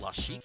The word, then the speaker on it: Lassic: um uh I think I think in this game LC's name is pronounced Lasik run is on the